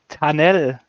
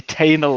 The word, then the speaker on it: Tanel: Yeah, pronunciation of my name was, I would say, better than usually the British does. They probably say Tainel or something like that. Rather tunnel or something like that, but somehow, yeah, it's difficult.